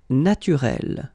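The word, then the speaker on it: naturelle: So here you can see that we write them differently, but then phonetically they are the same. Listen, naturel, naturel.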